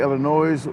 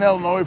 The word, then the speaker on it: Illinois: I hear someone say Illinois with an S, I'd have a whole lot of nickels. The S is silent unless you're from Missouri or Wisconsin, but I agree about Washington State."